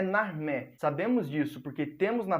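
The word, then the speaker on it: Narmer: desenho uma inscrição em hieróglifo de um peixe que em egípcio antigo era pronunciado na e de um cinzel que era pronunciado mer ou seja na armé essa Inscrição está inserida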